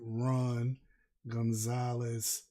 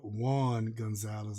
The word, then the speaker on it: Juan Gonzalez: a good job her and Ron Gonzalez uh Juan Gonzalez I said his name wrong excuse me Juan Juan